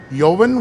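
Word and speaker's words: Joven: buzs saws there's also yovin which is the gold tequila uh I think I pronounced that correctly it's j o v n I imagine the J is silent it's TP typically a uh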